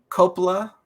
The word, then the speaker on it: Coppola: You have Diane Keaton, Francis Ford Coppola.